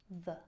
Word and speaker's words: the: You will hear a shorter version, the, and you'll also hear our favorite schwa, the.